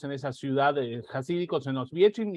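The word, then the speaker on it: Oświęcim: Auschwitz no es el nombre de la ciudad es Oswiecim, Enrique, ¿cómo se pronuncia? Oswiecim. Oswiecim.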